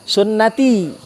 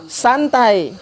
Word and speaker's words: sunnati: Nabi bilang an-nikahu sunnati. Ada ya-nya. Nikah itu adalah sunnahku. Karena dia baca tulisan yang nggak ada harokatnya, dibacanya an-nikahu santai. Nggak nikah. Sunnati dibaca santai, nggak nikah. Ya. Makanya salah baca, salah pula artinya oleh salah harokat.